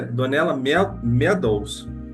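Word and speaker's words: Donella Meadows: próxima reunião da Confraria do pensamento sistêmico a pronúncia correta é donela meds a foi a primeira coisa que eu falei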